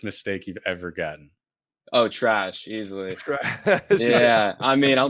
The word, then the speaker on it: Treash: asked this before we started recording it is trish correct it's actually trash but honestly i don't know it's like that's